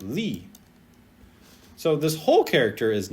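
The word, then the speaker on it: 力: And this character is pronounced li.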